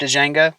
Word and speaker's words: Django: yeah yeah you watched Django I watched it what the the D is silent maybe for you but